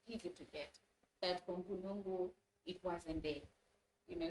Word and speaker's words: Mpulungu: I keep adding extra syllables. Mpulungu. To Mpulungu.